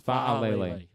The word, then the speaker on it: Faalele: Yes, Faalele. Faalele. 4 syllables.